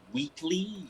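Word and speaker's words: Whateley: It was pronounced Wheatley.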